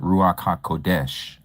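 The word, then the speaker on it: Ruach HaKodesh: So if you hear someone say ruak ha kadash. Okay. You may hear people pronounce it ruaka kodesh.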